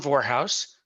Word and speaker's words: Vorhaus: single vector if you have my name warehouse v-o-r-h-a-u-s rhymes with well never mind it's easy to remember